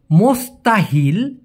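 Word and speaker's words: mustahil: মূলত উচ্চারণটা হবে মুসতাহিল।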